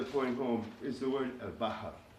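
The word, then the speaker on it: البحّار: sound with the short one, it would be al-bahar, al-bahar, which means a sailor, the sailor, al-bahar, the sailor, al-bahr, the sea, al-bahar, a sailor.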